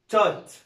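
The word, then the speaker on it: taught: طيب تي اي يو جي اتش تي يبقى اسمها توت، اسمها ايه؟ توت.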